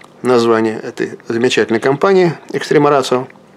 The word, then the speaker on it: Ratio: И поэтому читается как «ци». «Рацио». Иногда произносится «ратио», я не знаю, каждый на свой манер произносит, но неправильно это.